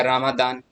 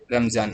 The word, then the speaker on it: Ramadan: नहीं जानते रमजान का स्पेलिंग? यही होता है, RAMADAN होता है। अब कोई इसको पढ़ेगा रामादान, तो अंग्रेजी में ऐसा नहीं होता, रमजान का यही स्पेलिंग होता।